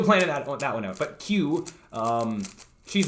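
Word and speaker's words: Que: So the cube is Q. It's spelled Q-U-E.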